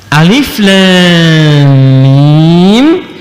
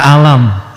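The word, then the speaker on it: الم: Alif Lam Mim sampai sekarang masih Alif Lam Mim, tidak pernah dibaca alam, kan?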